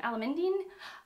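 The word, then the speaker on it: Alameddine: i just learned how to say his name alamendine um ravi ella mindy is an unnecessary woman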